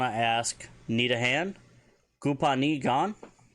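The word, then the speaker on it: copaani gaan: Kupani gan? Kopani gan?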